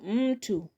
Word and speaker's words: mtu: Number eight here we have mtu. Mtu mtu. Mtu mtu. So m has two syllables that is m and two. So second from the end of the word we learn on syllable m.